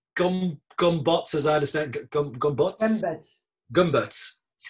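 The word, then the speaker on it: Gömböc: yet another ruling from the CJU concerning the Gombots sign. I learned today that this is indeed the correct pronunciation.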